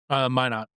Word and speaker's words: Minot: Was there like a in Decorah that you lived in Minot or Minot? How's it pronounced? Mine not.